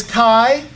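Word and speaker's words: chi: Jesus cry for Christ is Kai and Roe so this makes kind of a a hard C sound like a k sound the X does and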